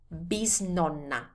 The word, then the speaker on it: bisnonna: Great-grandmother is bisnonna.